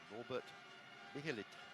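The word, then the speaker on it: Norbert Michelisz: horns and the CH I'm reassured his name is pronounced Robert millit as as our Hungarian commentators in the uh booth next to us yeah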